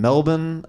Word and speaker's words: Melbourne: I was in, I say it like the locals, Melbourne. He did. Because Americans say Melbourne. Yeah. And all the locals are like, that's not how we say it. That's how they suss you out immediately. We don't say it like that.